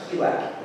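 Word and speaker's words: Qilak: Kylak is the way to pronounce it, actually.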